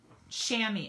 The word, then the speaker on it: chamois: cleaned this is my stampin chamois s-h-a-m-m-y i've had people look for them in the online store and spell it wrong and then they don't come up this chamois these are fabulous for